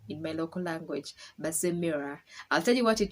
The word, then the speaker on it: Basemera: Meanwhile, how you say my name is in Runyoro, you don't say Basemera because I'm just saying it in English. It's Basemera. That's how you actually pronounce my name in my local language, Basemera.